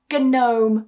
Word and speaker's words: gnome: When you get the G and N at the beginning of a word, it also disappears. For example, gnome. So not gnome but gnome.